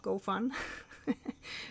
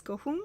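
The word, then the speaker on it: gofun: It is called gohun. So the pronunciation of this word is not go fun. It's gohun, so it rhymes more with moon than with fun.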